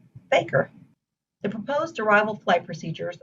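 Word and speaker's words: FAKIR: five letters for example the f-a-k-i-r waypoint would be pronounced faker the proposed arrival flight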